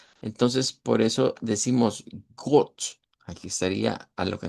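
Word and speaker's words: Gott: Esta es una o corta. Entonces, por eso decimos got. Aquí estaría a lo que nos referencia got.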